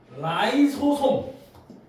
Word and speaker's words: 라이소솜: 라이소점이라고 옛날에 읽었는데 이걸 라이소솜으로 발음을 바꾸기로 했나봐요. 이제 알겠니? 라이소솜.